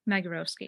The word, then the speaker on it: Magorowski: Yeah, Magorowski. It's a hard G.